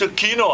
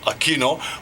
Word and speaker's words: Aquino: quino I said yeah now it's a a Kino but because of you know uh the rulers of the Philippines but in Hawaii the pronunciation for many many many years was Aquino right Rudy Aquino with the Ali but now it's aino because it comes from Spanish the Spanish Roots right AI mhm right